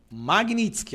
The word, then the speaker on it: Magnitsky: Magnitsky, a pronúncia correta, tá?